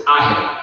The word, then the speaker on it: AH3B: Okay, so we run a nonprofit, and the name of the nonprofit is AHEB, but it's spelled AH3B.